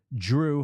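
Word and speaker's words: Jrue: NBA Insider um and you say his name you try to say his name as clearly as possible and it still sounds like Drew with a d it's Drew holiday which I love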